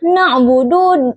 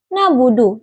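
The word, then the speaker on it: نَعْبُدُ: Kata na'budu huruf nun makhrajnya itu di ujung lidah. Huruf ain yang makhrajnya itu di tenggorokan bawah ain dengan huruf ba yang makhrajnya itu di dua bibir. Kesalahan yang sering terjadi seperti pengucapan ain yang tidak ada getaran sehingga terdengar seperti nabudu. Contoh bacaan benar na'budu dengan ain yang jelas.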